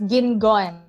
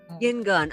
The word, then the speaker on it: Guigon: It's Guingon. Guingon. Okay, silent you.